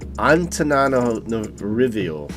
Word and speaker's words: Antananarivo: But sorry, so if you can pronounce it, it is Antananarivo. I'm going to try again. Antananarivo.